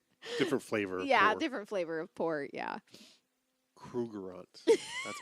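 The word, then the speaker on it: Krugerrand: Krugerants.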